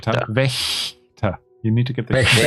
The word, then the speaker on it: Wächter: Hans Wachter. How do you spell it? W-A-C-H. W is a V.